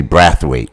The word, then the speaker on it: Braithwaite: with wait yeah okay as Americans say breath weight in in my Trinidadian Venezuelan family members say brathwaite okay I don't know